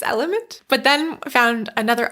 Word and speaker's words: LMNT: Some people say LMNT, some people say element. I think it's element.